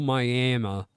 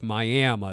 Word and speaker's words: Miami: near the old Boot factory by the little miam yes miam spelled Miami but pronounced Mi the Little miam River when he